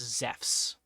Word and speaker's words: Zeus: Literally just Zeffs. Z E FFS. Zeffs. That's how you say it in Greek.